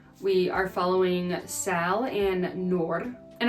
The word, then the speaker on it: Noor: We are following Sal and Noor, and I'm saying it like that because I believe that is the correct pronunciation. She complains in the book that people call her Noor, so I'm trying not